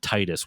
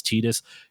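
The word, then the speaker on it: Tidus: I always said Titus when I first played it. I understand it's Tetus.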